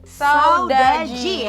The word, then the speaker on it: Saudade: ada dari Saudaji ya pronunciation-nya.